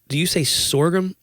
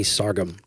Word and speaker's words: sorghum: Do you say sorghum or do you say sargum? I don't say either. I don't know. I know what that is, but yeah, my dad would call it sargum.